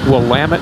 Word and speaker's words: Willamette: almost the top of Willamette fast see how that spell does not pronounced will of it there's a Willamette pass